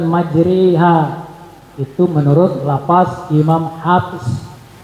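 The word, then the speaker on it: مجراها: Sehingga bunyinya, maka menjadi bismillahi majriha wa murtaha. Tapi Imam Hafiz hanya melafazkan dalam ayat ini saja imalah ini.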